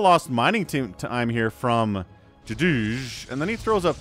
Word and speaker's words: JDGE: Otherwise known as Jadij. Yes, that's how you pronounce that.